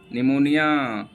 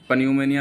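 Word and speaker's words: pneumonia: निमोनिया P silent है, पन्यूमोनिया नहीं पढ़ेंगे, जैसे टेरिडोफाइटा को टेरिडोफाइटा नहीं पढ़ते हैं, उसी हिसाब से निमोनिया इसको पढ़ेंगे।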